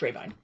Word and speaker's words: Rabine: Anyway, it's pronounced Rabine, more or less. The Germans pronounce it slightly differently, but as you can kind of see, that is a German name.